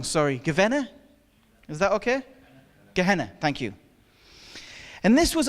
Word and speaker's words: Gehenna: say it wrong sorry governor is that okay Gehenna thank you and this was a place of